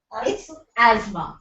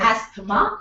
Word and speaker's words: asthma: a breathing disorder a disease what is the pronunciation yes Asma it's not asthma it is Asma pronounced as Asma asthma when